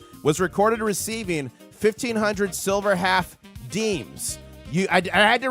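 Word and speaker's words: disme: July 13th, 1792, Thomas Jefferson was recorded receiving500 silver half deems. You I I had to research this. It's not dismay. You pronounce this as deems. It's French. And this later became dimes.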